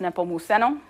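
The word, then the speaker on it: Nepomuceno: this dude Juan and his middle name is pronounced nepo muso Cortina that's this guy here so we're going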